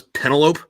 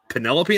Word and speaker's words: Penelope: it, or read it, I thought it was Penelope because Greeks pronounce shit weird. And then I was talking to somebody about it, and they're like, "Who the fuck is Penelope? Do you mean Penelope?" I'm like, oh, yeah, that actually makes a little more sense.